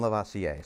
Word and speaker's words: Lavoisier: It's not until the 1700s we get to Lavoisier, Antoine Lavoisier.